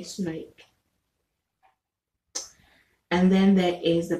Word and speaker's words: snoek: Okay, I think then there is this one called Snoke, is spelled SNOERERK. No, SNOEK. Okay, Snoke.